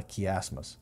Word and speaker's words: chiasmus: I used to call it a chiasmus, but that's the wrong pronunciation. It's actually called a chiasmus or a chiasm. Its name is based on the Greek letter chi.